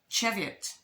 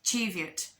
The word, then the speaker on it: Cheviot: You can correct me, maybe write it as it's spelt or said, because I know Cheviot is pronounced Cheviot. It's not Cheviot.